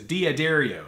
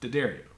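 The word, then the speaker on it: D'Addario: way like Dario because everybody says dadario but it's not it's Dario which is Italian that's the American version Dario anyways but they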